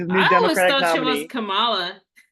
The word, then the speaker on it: Kamala: So like Kamala Harris, she puts the emphasis on the first syllable, Oh, but okay. Kamala Khan, No, she's Kamala. Kamala, yeah, Kamala Yeah. Khan, she puts the emphasis on the second syllable, and so Yeah, easy